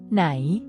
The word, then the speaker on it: ไหน: On the other hand, ไหน is a question word meaning where. It's pronounced with a high tone. It starts at a higher pitch and maintains this elevated pitch level, distinguishing it from the mid-tone.